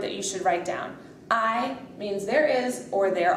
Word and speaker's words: hay: Just remember, the H is silent.